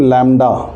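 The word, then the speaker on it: lambda: तो ये Greek letter है और इसको बोलते हैं हम लैम्डा। इसको पढ़ना, आप इसको प्रोनाउंस करना सीखिए।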